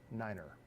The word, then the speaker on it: niner: do I do that I am modeling the actual pronunciation indicated in the the aeronautical information manual on how to pronounce the numbers tree five Niner everything else is kind